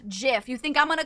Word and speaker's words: GIF: That's like people say that the the guy who made GIF wanted it to be pronounced GIF. You think I'm going to call it GIF?